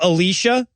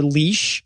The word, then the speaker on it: Elisha: elisha and elijah except they pronounce the girl's name alicia but they spell it elijah um or occasionally they call her leash which is great you